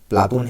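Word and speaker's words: Πλάτων: होता है चौड़ा चपटा शब्द शुद्ध यूनानी उच्चारण प्लाटून है और अरबी में इसी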